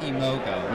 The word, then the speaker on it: Mage Mojo: Mahimogo. Mahimogo. Mahimogo. It's the correct pronunciation.